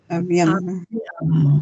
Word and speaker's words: abbiamo: La doble dura hay que frenar antes de pronunciarla. Yo digo abbiamo, como que paro. Abbiamo. Por eso es dura, no es un sonido como alargado, bonito, no, es duro. Abbiamo.